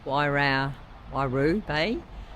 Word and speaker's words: Waihau Bay: We are headed to, it's pronounced Waihau Bay for a night, and then to Mount Maunganui to eventually drop the bike off on Monday.